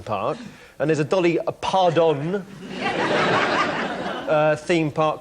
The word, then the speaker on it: Parton: Pardon. It's pronounced... In America, it is pronounced pardon.